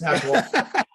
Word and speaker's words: Nashawaty: It's Nashawaty pronounced Smith. No, it's Nashawaty. But no, I'm on Twitter.